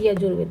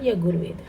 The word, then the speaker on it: यजुर्वेद: यहाँ पर जे आएगा स्पेलिंग में, इट्स यजुर्वेद नॉट यगुर्वेद, ठीक है, इट्स यजुर्वेद।